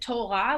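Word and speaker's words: תורה: know that word uh torah when you hear it you think it it's just torah like two sounds uh and in fact the torah ends with a hey sound and the hay is silent um most words are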